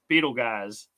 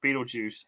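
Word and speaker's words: Betelgeuse: a red star named Beetle guys or Beetlejuice however you want to pronounce it so uh the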